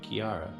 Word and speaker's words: Kiara: that rhymes with tiara. Oh, Kiara.